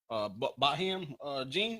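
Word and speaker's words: Botham Jean: Baham Jean, that's how you pronounce him.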